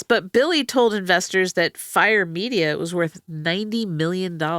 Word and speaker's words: Fyre: Fire.